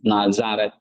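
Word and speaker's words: Ναζαρέτ: Nazaret ya. Zeta kan. Z sound. Nazaret.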